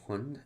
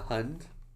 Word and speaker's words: hund: A hund? Oh, it sounds kind of like hound. I can see that now. Like hound, hund.